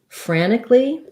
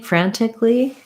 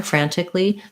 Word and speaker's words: frantically: your other word frantically so i just said it the way a lot of americans say it which is i left the tea out and said it more like frankly you can say frantically just put your tea back in there frantically that's perfectly correct